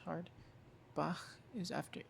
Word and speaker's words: Bach: A hard one is like Buch, which means book, or well, or Bach, Bach, Bach, which is like brook, like the name Brook, but in German, Bach, Bach.